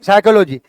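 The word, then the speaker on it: psychology: silent philosophy तो नहीं साइकोलॉजी P silent ऐसे ना जाने कितने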